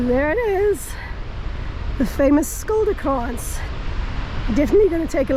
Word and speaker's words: Skilderkrans: Skilderkrans. Yeah. How do you spell it?